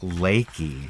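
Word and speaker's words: Leakey: like a leaky faucet or something but it's pronounced laiki Nick laiki but it's fun to you know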